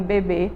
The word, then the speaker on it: bebê: Veja só, na última sílaba de bebê tem um acento. Vamos chamar bebê. A última sílaba aí é mais forte e está acentuada, certo?